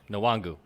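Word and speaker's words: Nwangwu: no no he's not two declandovska wangu kane nuwangu nawangu yes uh okay here's why here's why wait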